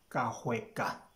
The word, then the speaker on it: Kahweka: Six, Kahweka, Kahweka. Some people would try Kashweka. It's not Kashweka, it's Kahweka.